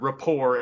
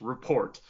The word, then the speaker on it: rapport: and he he says the word rapport as report yeah Brad Pit says report and Azie gets so angry he's not even so angry that they have his Memoir he's angry that Brad Pit mispronounced a word like Rapport Rapport you [ __